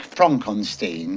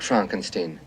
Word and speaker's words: Frankenstein: Well, why isn't it Frederick Frankenstein? It isn't. It's Frederick Frankenstein. I see. You must be Igor. No, it's pronounced Igor.